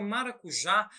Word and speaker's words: maracujá: aí a palavra maracujá a palavra maracujá ela é uma palavra que tem por sua sílaba in tonicidade a sílaba Já que é a última sílaba e também essa sílaba